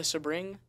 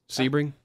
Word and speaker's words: Sebring: you say the spring how do you say it the Sabrine Sebring Sebring Sebring yeah he won the